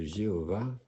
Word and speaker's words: Jéhovah: » Alors, au nom de Jéhovah, bon, ça c'est la prononciation à la française, hein.